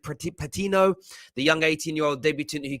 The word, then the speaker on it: Patino: And of course, it was kind of put to bed in the end by, I think it's pronounced it, Patino, the young 18-year-old debutant who came on, got the 5th goal.